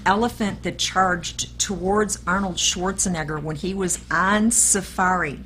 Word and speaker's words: Schwarzenegger: off but that's it correct me please schwarzkopf Schwarzenegger Schwarzenegger I said nagar but you know what